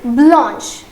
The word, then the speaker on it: blanche: For feminine it is B-L-A-N-C-H-E. Okay, and the pronunciation will be blanche.